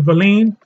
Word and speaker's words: valine: Amino acids include valin, some people pronounce it valine, lysine, methionine, look it up.